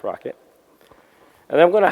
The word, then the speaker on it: rkt: And then Rocket, which is RKT, is pronounced Rocket.